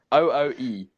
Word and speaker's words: OOE: OOE, yeah.